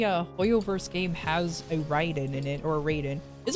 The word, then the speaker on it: Raiden: Kombat but it I don't know if I've pronouncing it incorrectly this whole time Ryden okay yeah like I said Mortal Kombat made me pronounce it as as as Raiden okay Ryden thank you thank you fine I'll